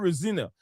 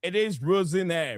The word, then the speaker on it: Rosenior: Yes, the right pron pronunciation is not Rosina. It's not Rosina. It is Rosinire. Rosaneire. Rosinire is the right pronunciation.